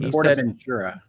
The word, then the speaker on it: PortAventura: It's How not dare you, Portaventura, which would be in like Southern California.